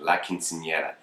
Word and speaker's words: Quinceañera: He's like, you keep saying it wrong. So I finally have it instilled in me where I'm basically saying it. La Quinceañera.